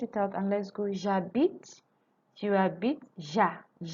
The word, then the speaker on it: j'habite: J'habite, tu habites, ja. So the H is silent. So we are pronouncing J and A.